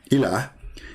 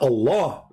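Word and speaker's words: إله: But al-ilah, al-ilah, ilah, is simply E-L, and there is little H at the end, like a sound of a music. Ilah. Still, it's ilah. It's not Allah. It is Il. Idiot. Il. Ilah. That sound at the end, the little tiny H, it's not really even an H. It's like a music sound.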